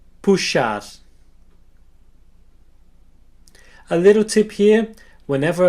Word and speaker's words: puxar: The letter X can be pronounced as an S and an H together, like in the English word shop. Let's see some examples. You can repeat after me. Abacaxi, caixa, xícara, puxar.